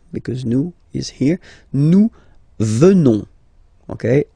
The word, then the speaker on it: venons: Nous venons. Okay? O-N-S, classical ending for nous. Okay? Final S not pronounced. So O-N, on, venons, venons.